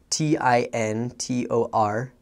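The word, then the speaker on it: tintorería: So, for example, a longer word, which might be kind of scary to people, is spelled Tintoreria, and it's pronounced tintoreria, which is kind of a tongue twister, but when you look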